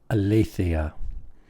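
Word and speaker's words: ἀλήθεια: The very first word here, aletheia. Aletheia. Notice the accent is on le.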